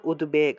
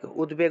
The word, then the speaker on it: উদ্বেগ: উদ্বেগ যে শব্দটা আছে এই উদ্বেগ শব্দের ক্ষেত্রে উদ্বেগ শব্দের ক্ষেত্রে এই যে বটা থাকে এটা কিন্তু অন্তস্থ ব নয় এটা হলো বর্গীয় ব সেজন্য এটা বফলা হিসেবে থাকলেও এটাকে সাধারণ ব এর মত উচ্চারণ করতে হয় অর্থাৎ উদ্বেগ উদ্বেগ উচ্চারণ করতে হবে তাহলে হর্ষা অমর্স ভায়ো